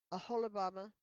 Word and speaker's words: Aholibamah: Oh, a holib Aholibamah. Pronunciation.